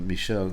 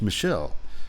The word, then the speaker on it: Michel: of ours Michelle uh Michelle it's a it's a man's name in French spelled different but pronounced the same as the woman's name anyway we were talking